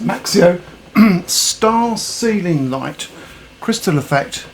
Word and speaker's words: Maxcio: Hi there, so here I have the Maxcio, as that's pronounced, Maxcio star ceiling light crystal effect with RGB lights and also a speaker for playing music, which this should be quite interesting.